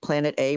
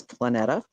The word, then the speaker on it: Planeta: I'm like, it's really phonetic. It's planet. It means planet in every Latin language.